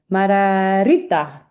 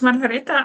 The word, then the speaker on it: Margareta: Margarita. Yeah, it's Margareta.